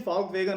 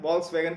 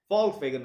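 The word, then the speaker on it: Volkswagen: और दूसरा peoples car, फॉल्क वैगन, pronunciation फॉल्क वैगन है, वॉल्क्स वैगन कहते हैं बहुत से, फॉल्क वैगन।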